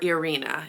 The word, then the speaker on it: Ireina: We have Miriam, Wanda, and Ireina or Arena is how they're pronouncing it.